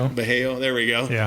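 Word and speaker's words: Vallejo: And then Boris, maybe you'll know this how to pronounce it, Boris Valho. Balaho. Bejo. Bejo.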